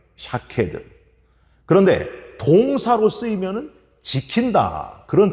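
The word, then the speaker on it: שָׁקֵד: 먼저 살구나무 환상은, 살구나무는 히브리어로 샤케드 이렇게 발음해요. 샤케드.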